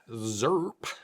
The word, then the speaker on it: ZIRP: said yes and so we are saying the word zerp zp yeah you gotta say it like that you gotta say it